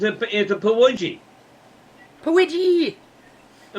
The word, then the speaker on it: Pukwudgie: It's a Pawudgie. Pawidgee. A Pawudgie. Okay. Well, The that's K is silent. the K is silent.